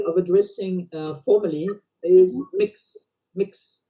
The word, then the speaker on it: Mx: some people want to pronounce it more mux as if it was a u in between so to not uh